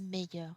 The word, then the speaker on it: meilleur: In any case, we do not pronounce it differently. It's always meilleur.